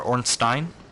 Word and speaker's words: Ornstein: Or Ornstein? Ornstein. Said it right the first time.